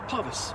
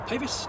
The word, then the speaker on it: Pavis: the box is um parvus or pavis depending upon the brunswick pronunciation you prefer so uh this is